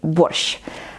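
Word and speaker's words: борщ: fifth prompt will be wash ah this four letters at the end of this word is actually one letter and one sound in Ukrainian so it's not worth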